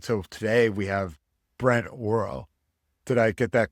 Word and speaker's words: Orrell: If we were in the UK, that would be the perfect pronunciation. It's a place name in England. Very cool. They say Orrell and we say Orrell.